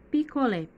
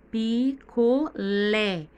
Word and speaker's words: picolé: Observe na palavra picolé, picolé. Vocês observaram que o lé está mais forte? Essa é a sílaba tônica da palavra picolé, é o lé.